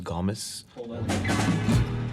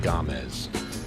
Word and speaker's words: Gomes: This is Ben Gomes. Well, the correct pronunciation is Gomes. This is Ben Gomez. But I say Gomes.